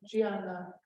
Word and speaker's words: Diana: And this is my wonderful colleague Gianna from Brazil. So it's spelled Diana, but pronounced Gianna, like Georgiana.